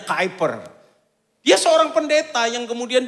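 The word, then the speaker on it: Kuyper: oleh karena kehadiran mereka hyper tulisannya kiper bacanya kiper Dia seorang pendeta yang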